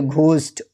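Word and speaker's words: ghost: और यदि एच के बाद ओ आता है तो एच साइलेंट होता है। जैसे घोस्ट, ऑनेस्ट, आवर।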